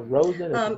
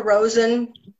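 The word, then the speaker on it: Rosin: Is it Rosen or Rosen? I call her Rosen. Mm-hmm. Oh, it's like R-O-S-I-N, yes.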